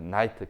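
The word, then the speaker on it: knight: 그다음에 나이트, K 발음 안 됩니다.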